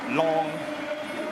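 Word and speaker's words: Lang: the long one nicholas long hits a long one long l-a-n-g hits a l-o-n-g one if indeed i pronounced that right here is nicole saving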